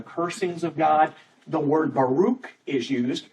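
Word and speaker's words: ברך: different word that is a Hebrew word Baro I think is how it is pronounced BR r k there aren't any vowels in that word and and so when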